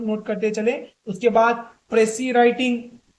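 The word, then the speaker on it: précis: उसके बाद प्रेसी writing. प्रेसिस writing यानी इसका एक्चुअल प्रोनाउंसिएशन प्रेसे है, तो असल प्रेसे क्या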